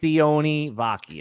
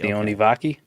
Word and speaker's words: Sione Vaki: Sione Vaki. Sione Vaki?